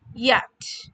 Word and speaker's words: yacht: It is called yacht. Port yacht. We pronounce it as Y A C H T.